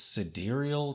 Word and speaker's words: sidereal: for this next one I'm pretty sure that I've always been mispronouncing this word in my head I don't think I've ever actually said it out loud but this is the sidereal time I always thought it was side real but I think